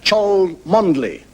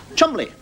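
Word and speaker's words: Cholmondeley: I mean you're gonna name like chole monthly no pants calm oddly Chumlee I suppose when you pronounce bottomley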